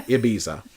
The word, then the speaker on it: Ibiza: I'm just gonna say it like a American. Ibiza. I want to say Ibiza like they kind of do.